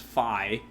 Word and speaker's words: Fi: There's Fee, or Fi. Apparently it's pronounced Fi.